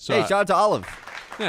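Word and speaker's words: Olyve: Is it PR is it spelled like the food? Olive. O L Y V E. Yeah, I would assume that's Olive. Olive.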